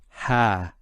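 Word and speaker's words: ها: Actually, in the mushaf you'll find that it's written in this way it's a small alif and that's just to do with the script and it's pronounced as ha.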